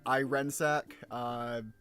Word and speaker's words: Irensack: lot of places is Irensack, usually intended to be pronounced like in the vein of iron, but apparently a lot